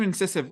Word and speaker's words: Incisive: And so let's get over to Incisive. What does the word Incisive mean? Incisive Ventures. What is the thinking behind that? Well, you could pronounce it the way you do. I pronounce it incisive.